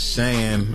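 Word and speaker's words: Chan: said her name wrong so it's Shan with a c but um c yeah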